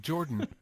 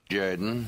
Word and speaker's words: Jordan: but Jerry loves it Jerry likes it he's Jordan coach of the Auburn Tigers no no no it's pronounced Jorden yes yes yes this is Suge Jaden football